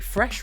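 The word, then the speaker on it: Freš: added in the EMA Fresh round to the mix, which I love that, by the way, just like F-R-E-S with a caron, but it's pronounced fresh because it's the same word.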